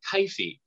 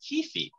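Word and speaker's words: kyphi: I generally say kifi or kifi.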